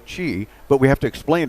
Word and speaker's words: Qi: else in North America, but it's pronounced Chi. That's right, Chi. But you don't say Chi even, you just say Chi? Yes. And why is that? Yeah, Chi is actually the pronunciation comes from Chinese, meaning energy or vital energy.